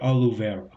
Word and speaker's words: Oliveira: Tyler Oliveira.